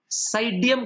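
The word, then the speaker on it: Psidium: Guava, साइडियम गुजावा, साइडियम गोजावा, P silent है।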